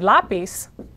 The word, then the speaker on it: lápiz: In the case of the word lápiz, it broke the rule, ended in a consonant, but not stressed on the last syllable, so you had to add an accent mark.